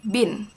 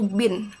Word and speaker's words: BIN: Contoh Badan Intelijen Negara itu disingkat menjadi bin kapital semua dan dibacanya itu bin bukan B I N.